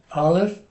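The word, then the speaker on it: אָלֶף: And an aleph is silent. It just, whatever vowel that goes with it, that's what we say.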